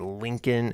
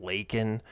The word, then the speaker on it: Laken: into that controversy apparently he said Lincoln instead of Laken which is pretty darn close but he did mispronounce it right so he did